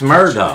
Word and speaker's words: Murdaugh: It's Alex Murdaugh. Chulus. Well, somebody else told me the other day his name's they pronounce it Alec.